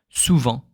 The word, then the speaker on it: souvent: The only moment you will pronounce the ENT when you read French will be when it's not a verb. It could be an adverb or a noun. For example, souvent.